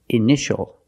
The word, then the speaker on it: initial: patient and this word initial or initials more than one we see Tia together so that t is pronounced initial initial my initials are